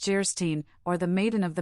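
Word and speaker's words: Geierstein: it for sale and of gyre Stein pronounced jerstein or the maiden of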